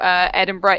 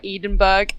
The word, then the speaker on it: Edinburgh: crying from when I heard an American call Edinburgh Edinburgh.